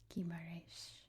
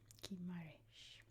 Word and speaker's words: Guimarães: And the first one we're going to look at is right here, and I believe that's pronounced Guimarães. Guimarães.